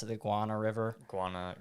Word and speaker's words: Guana: like the tolomato and the how do you pronounce it the Guana River Guana it's Guana it's all yeah it's all yeah yeah so